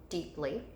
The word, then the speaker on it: deeply: P and the LY, deeply. We have an EE pattern, so this is our pattern. And you can hear the long E in that first syllable. So it's accented in the first syllable, and it's an EE pattern.